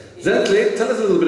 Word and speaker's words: Zintle: right but it is spelled z-i-n-t-l-e but it's pronounced gently tell us a little bit about yourself welcome